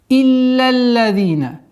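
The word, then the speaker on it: إلا الذين: Итак, «Илля-лладина». Четкое произношение касры с хамзой. «Илля-лладина». С огласовки фатха ляма переходим на удвоение 2-го ляма.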